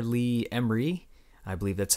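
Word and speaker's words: Ermey: Lee Emery. I believe that's how you pronounce his last name.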